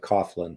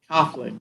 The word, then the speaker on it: Coghlan: uh we pronounce it Coughlin like there's a u in it Coughlin okay Coughlin I have actually heard